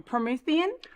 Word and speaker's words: Promethean: Let's talk about I don't want to say the name wrong. Promethean.